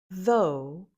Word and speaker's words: though: Though, though, it rhymes with no or go.